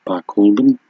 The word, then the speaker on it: Barcaldine: The locals get very upset with that. It's Barcaldine.